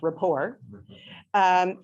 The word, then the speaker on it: Report: So years ago, Stephen Colbert, when he was still doing the Colbert Report, pronounced rapport, he had this recurring segment called The Word, where he would introduce an important word.